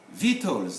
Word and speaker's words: victuals: We don't pronounce the C, but it's written in the sound, in both. They are called victuals. Even the U and the A are not to be pronounced, but then we are concerned with letter C.